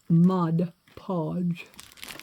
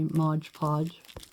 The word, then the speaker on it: Mod Podge: can spread this uh Mod Podge on it try to say it right from now on but I'm sure I'll forget to say Modge Podge it's just been a